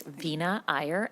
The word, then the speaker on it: Veena Iyer: I mispronounce your name, Vina Ayer. Welcome to the committee and please uh state your name for the record and begin. Thank you, chair. The pronunciation was perfect. It's Vina Ayer and I am the